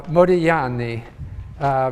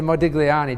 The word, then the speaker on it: Modigliani: pronounce his name uh modiyani because in italian you don't pronounce the g although i tend to say modigliani just to be understood uh and uh merton miller uh modiani is one of the